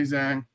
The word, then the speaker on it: Zhang: But Johnny did ask for RJ, who are you picking between Islam versus Jack and Valentina versus Zhang, if I pronounced that correctly?